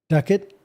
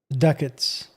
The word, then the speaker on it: ducat: Ducat is spelled is pronounced like bucket but with a d. So it's ducket duckets.